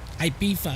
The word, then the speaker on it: Ibiza: Ibiza is how it's pronounced.